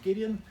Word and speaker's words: Gideon: Now, for the people who don't know me, my name is, depending on your background, it's either Gideon, that's the Dutch pronunciation, or Gideon.